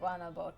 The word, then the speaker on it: Guanabo: They pronounce it Guanabo to me, so that's why I go with that pronunciation.